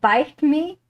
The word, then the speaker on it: biteme: I was interested in this strange word like bite bite bite bite and then Google eventually delivered that it it's pronounced bite me and it's an invention of Jordans like for